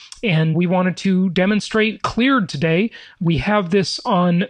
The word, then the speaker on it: Kleard: ceo of cleared and cleared now that's spelled with a k by the way and